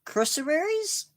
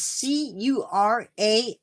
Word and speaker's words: curassow: Next up, they have blue-throated macaws and blue-billed crossaries. I am sorry. I did not pronounce that correctly, I don't think. It is Curassows.